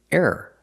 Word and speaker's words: error: The second word is error. Error. You can say error, or you can say it fast. Error. Error. It's still two syllables.